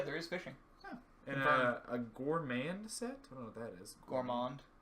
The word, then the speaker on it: gourmand: It's Gourmand. like yeah. Okay.